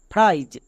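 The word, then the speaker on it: fries: উচ্চারণ হবে যেমন স্পাইজ এফ আর এর জন্য ফ্রো প্লাস আইজ ফ্রাইজ মনে থাকবে আই ই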